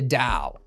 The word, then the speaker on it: Dao: that we're on the DAO. Okay. Now, that's the other thing about this this box. This box is also called the Dao. Sometimes it looks like it's spelled like Tao.